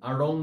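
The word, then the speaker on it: আড়ং: কথাটির অর্থ হচ্ছে বাজার এটি কিভাবে উচ্চারণ করতে হয় উচ্চারণ করতে হয় ড এবং র ড যেখান থেকে উচ্চারিত হয় ঠিক সেই জায়গা থেকে তোমার একটা র বের করতে হবে এ কারণে এটাকে আমরা বলি র আমরা আরং বলছি আরং আমরা এই আরং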